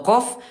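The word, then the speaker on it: قاف: Bedanya kalau qof pangkal lidah dinaikin ke langit-langit atas eh benar ya, ke langit-langit yang lunak tadi ya. Ee kalau huruf kaf langit-langit yang keras dan lunas sekaligus. Huruf qof dia jahr tidak ada udara dan kaf dia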